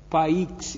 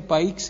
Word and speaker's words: Paix: Christian Gratolot, a Catherine Paix, eu acho que pronuncia Paix, P-A-I-X, francês.